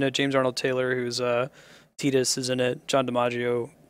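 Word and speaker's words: Tidus: Yeah, I actually need to give stream 5 sphere points if you catch me saying Titus, the correct pronunciation.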